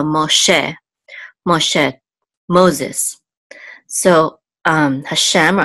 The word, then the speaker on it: Moshe: And then this is a sigol, and this hey is silent. Sigol says e, so Moshe.